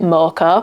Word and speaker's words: mocha: we've not had a mocker in a while cuz I say it mocker. I think the Americans say it mocha.